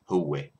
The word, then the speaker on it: هوّة: Huwe is spelled ha waw ta al marbuta. Huwe.